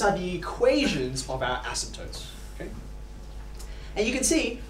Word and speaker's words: asymptotes: you read that asymptotes there's a silent p right there in the middle asymptotes okay these are lines